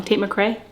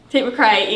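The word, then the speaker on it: Tate McRae: baby combo to Tate I would say her name wrong tapate McCrae Tate McCrae yeah t mccre I texted her and I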